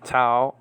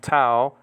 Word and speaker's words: tau: Metera for mother is spelled out mu, eta, tau, epsilon. Nowadays called tough, by the way, and eta, and then the mu is called me. But this is biblical Greek that I'm talking about. Mu, eta, tau, epsilon with the acute marker rho and alpha.